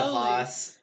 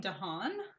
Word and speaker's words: DeHaan: DeHaas on more cocaine. Dane DeHaan?